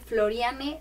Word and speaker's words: Florianne: tal cual De hecho mi nombre es pronuncia así tal cual floriane con v a